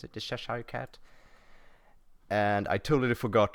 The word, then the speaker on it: Cheshire: That's how you pronounce it, the Cheshire cat.